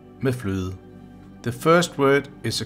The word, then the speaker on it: fløde: The sentence is pronounced Rødgrød med fløde.